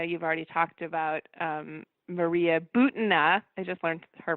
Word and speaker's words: Butina: and I know you've already talked about Maria Butina, I just learned her pronunciation, is the sort of evangelical NRA connection that sometimes Trump is using evangelicals to kind of whitewash him.